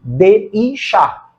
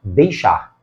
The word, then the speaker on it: deixar: caso não é vogal eu não pronuncio de i charar eu pronuncio deixar deixar este i é articulado junto do este que acompanha uma vogal dentro da sílaba é uma semivogal e semivogal não ocupa núcleo de sílaba é margem silábica como ele funciona como